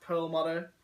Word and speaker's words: Perlmutter: So as I said, the man Max, I believe his last name is pronounced Perlmutter.